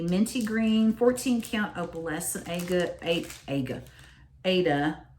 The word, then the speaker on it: Aida: Okay, so the fabric is the minty green 14 count opalescent Aida, or as you're supposed to pronounce it, Aida, which I don't.